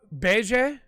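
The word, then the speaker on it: Bege: really honestly did copy and Luffy senpai ah Bay Jay as I found out it's the way to pronounce it because I'm a manga reader not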